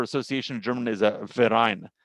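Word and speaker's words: Verein: of German is a verine the V is pronounced like an f and this verine sort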